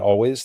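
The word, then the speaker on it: Alvvays: Yeah, they spell their name with two V's, but it's pronounced always.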